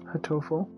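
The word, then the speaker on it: Hatoful: Hotoful.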